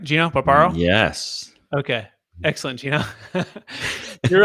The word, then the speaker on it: Gino Barbaro: I'm going to make sure I pronounce that right? Gino Barbaro?